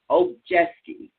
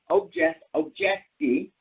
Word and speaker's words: Obijiski: Obijiski, okay?